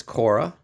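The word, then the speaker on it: Khora: This next one is Kora. K H O R A as you see there in the bottom. I do believe that is the proper pronunciation is Kora.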